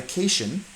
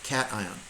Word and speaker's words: cation: So we'll discuss this more next unit as well, but a positive ion is called a cation. Not a cation. It's just pronounced cation.